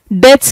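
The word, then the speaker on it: debts: डे्स क्या होता है? कर्जा। ऋण बी यहां पर साइलेंट है।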